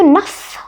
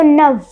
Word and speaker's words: neuf: अब आपको लगेगा कि इसमें तो F है तो नफ होना चाहिए था, बट नहीं।